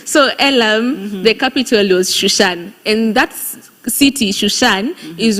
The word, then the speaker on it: Shushan: It's not Susan. It's not Susa. It's Susa in another language, but it's Shushan. It's Susa when you write it, but it's pronounced as Shusha, right?